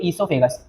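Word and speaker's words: oesophagus: है इसको बोलते इसोफागस ओ से स्टार्ट होता है लेकिन ओ साइलेंट होता है बोलते हैं इसोफागस बोलते हैं इसोफागस दूसरी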